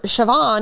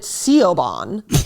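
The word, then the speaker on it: Siobhan: embarrassing it'd be like if you had a kid name sh shoban and called it Coban because that's how it's spelled like you don't do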